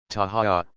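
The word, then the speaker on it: Tahaa: we were close into tah pronounced Taha with equal accents and tah was grinning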